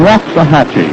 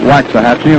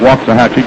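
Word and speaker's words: Waxahachie: behind the catcher Paul Richards Richards comes from waah hatchee he tells me that's the way to pronounce it down in Texas we've been calling it waxahachi and we apologize now to every citizen of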